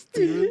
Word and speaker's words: Stevland: I don't know how to pronounce. Steven. It's STEVLAND.